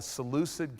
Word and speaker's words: Seleucid: one that we call the Seleucid Kingdom or saluted Kingdom depending how you say it that's the one